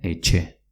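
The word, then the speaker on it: etxe: Y casa se dice eche, con una TX.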